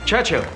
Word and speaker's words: Churchill: Churchill? That's how you say it. Altogether like that. I'd heard church and hill, but couldn't find either.